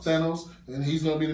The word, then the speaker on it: Thanos: guess this is how you say his name Thanos Thanos and he's gonna be the new guy I